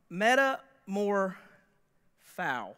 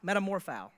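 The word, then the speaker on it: μεταμορφόω: this in first service meta more foul Metamorpho yeah that's how you say it the reason that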